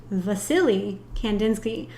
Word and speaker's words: Wassily Kandinsky: lostly oh my gosh Vasily Kandinsky spelled with a W but it's Russian so it's pronounced with a v anyways I'm